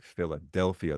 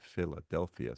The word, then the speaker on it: Philadelphia: a little weak one, like Philadelphia. The del gets it, but the fi gets like a little bit Philadelphia, so that the I is almost a secondary stressed syllable.